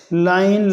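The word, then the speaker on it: lain: इन close syllables however it is pronounced as to separate sounds A आई, लाइन लाइन, यानी इसी तरह के और वगैरह वगैरह।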